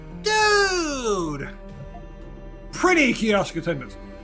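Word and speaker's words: Dood: them the fill in spell it d o o d like dude pretty kios attendant it's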